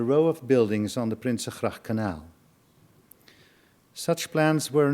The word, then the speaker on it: Prinsengracht: building at Prinsengracht 263, good for your Dutch pronunciation, Prinsengracht, in Amsterdam, and in